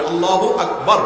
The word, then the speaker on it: আল্লাহু আকবার: প্রতারণা এটা জায়েজ নাই আল্লাহু আকবার উচ্চারণ করার সময় আকবারের রাকে টেনে বলা ঠিক হবে কিনা না ঠিক হবে কেন তাজবিদের সাথে বলতে হবে আল্লাহু আকবার আল্লাহু আকবার এরকম বলা যাবে না বাবার তিন সন্তানের মধ্যে